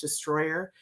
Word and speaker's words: Distroller: It's spelled Distroller, but it's pronounced Destroyer.